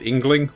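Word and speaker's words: Yngling: or Fair hair of the engling dynasty I think that's how you pronounce it engling y n g l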